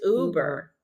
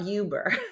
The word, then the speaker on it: Uber: U Uber Uber Uber it's Uber it's Uber not Yuber although I'm gonna call